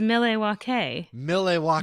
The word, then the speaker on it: Milwaukee: It's actually pronounced Milwaukee.